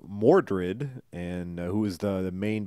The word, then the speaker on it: Mordred: He's running into they call him Modred, which is one of the different pronunciations of Mordred, and who is the main bad guy in the Arthur story.